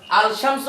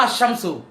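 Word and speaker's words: الشَّمْس: শামসুম সূর্য এখন আবার বলেন আলশামসু না আশশামসুম তাহলে রাজাকার আল বদার আলশামস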